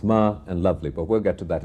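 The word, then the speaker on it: Malavli: And I wonder if there is a symbolism to that, because when I asked him how I pronounce this, he said it's Ma and Lovely, but we'll get to that in a moment.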